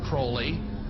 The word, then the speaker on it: Crowley: he likes to bring have his name pronounced crowley to rhyme with holy and the satanists today